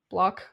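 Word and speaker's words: Bloch: psycho by Robert blo block how do you spell it b o c h block yeah block block block like lock yeah lock yes like Loch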